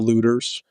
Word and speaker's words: Luetters: Uh but it's Kyle Lutters u ts. It sounds like the people that during riots are like busting windows and taking stuff. You got the pronunciation right if you do that.